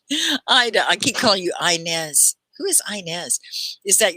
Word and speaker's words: Inez: I used to have a grandmother named Inez, and she spelled it like this, I-N-E-Z.